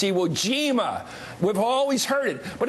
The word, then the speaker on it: Iwo Jima: She mispronounces words like you'd get wrong, like scourge and Iwo Jama or something she said the other night. It's like she's never said these words before. So somebody's writing words that she's never pronounced before. Somebody's putting this stuff in Bachmann's face and saying, read this, and not even saying it's scourge, not scourge. It's Iwo Jima, as every grade school kid in America knows.